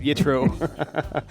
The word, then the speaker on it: Yitro: Yeah, I think what happens is I've been hearing so much of the Ashkenazi thing, and it's like they pronounce... You've been around too many Ashkenazi. Yeah. It's really, hang out with us Sephardim a little bit.